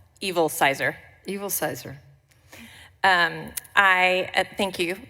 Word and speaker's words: Evilsizer: I didn't know how to say it how evilsizer evilsizer um I thank you um Madam chair